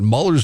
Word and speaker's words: Mueller: I don't like the way he pronounces his name. It should be Mueller.